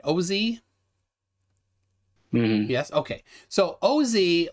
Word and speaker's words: Osee: So, I want to make sure I pronounce it right. Osee?